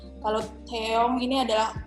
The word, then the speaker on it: Taeyong: Padahal yang benar adalah Taeyong. Taeyong. O-nya O, bukan O. Jadi beda sama si Taeyeon tadi. Kalau Taeyeon ini O, kalau Taeyong ini adalah O.